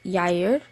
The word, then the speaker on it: Jair: For Jair, and I always want to say Jair, but it's pronounced Jair.